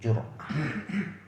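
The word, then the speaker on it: جرأة: Cara bacanya jimnya baris depan, ro-nya disukunkan jadi jur'ah.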